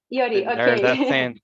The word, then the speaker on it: Yuri: about you you already I don't know if I pronunciation right but is right it's all right Yuri I uid um my